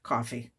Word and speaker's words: Ko-fi: Coffee k- fi and I've decided that's how it said coffee I different people pronounce it different ways I'm going to stick with coffee uh and coffee allows